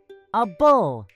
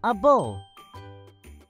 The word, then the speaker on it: able: more suffix for today a bull it means you can do something it looks like the word able but as a suffix we say a bull like in the word